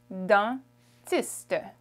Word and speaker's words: dentiste: Dentist in French is dentiste. We have the EN sound, un dentiste. Un dentiste.